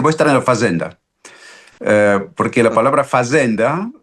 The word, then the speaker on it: fazenda: La esclava proviene esa palabra fazenda que se pronuncia a la portuguesa y quiere decir la DCH.